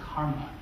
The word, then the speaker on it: CCRMA: and music and acoustics at ccrma and it's pronounced karma and this is one of the two places